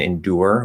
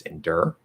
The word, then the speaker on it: endure: kind of dramatic um saying endure with an ur is perfectly fine there are people who naturally say it that way um for me i usually would pronounce this endure i just say it as an er sound because ur doesn't i